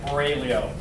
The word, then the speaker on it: Aurelio: My name is Aurelio. It is an Italian last name. There is a G in there. It's silent.